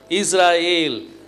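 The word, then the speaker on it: ישראל: ஈ ஈ sound அப்போ இஸ்ரா ஏல் ஈ sound வந்துரும்ல இஸ்ராயேல் இஸ்ராயேல் அதாவது ஷெமா இஸ்ராயேல்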